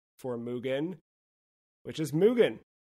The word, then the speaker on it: MUGEN: for mugan which is mugan because it's taken from the Japanese word Mugen which means Without Limits or basically Infinity checks